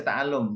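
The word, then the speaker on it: تعلّم: Kenapa dia dibaca ta'allum bukan ta'lim? Tadi kan si ini temannya bacanya ta'lim. Ya, Sat. Kenapa? Karena nggak ada ya-nya di situ.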